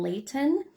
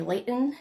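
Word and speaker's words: Layton: the Heritage Museum in Leighton um unless you're from Utah you say Leon but I I try to pronounce the te's it's such a Utah thing um but yes I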